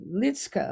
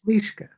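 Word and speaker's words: Liszka: He also co-founded with Teresa Litska, am I pronouncing her name right? Lishka.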